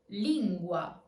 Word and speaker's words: lingua: Wa, as in lingua. Lingua.